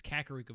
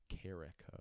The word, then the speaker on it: Kakariko: think i i think i didn't know that it had another eye in it so i just said like carrico or something oh my